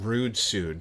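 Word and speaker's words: Ruudsuud: Well, there's one called R-U-U-D-S-U-U-D, and I think I prefer to pronounce that rude suit, so.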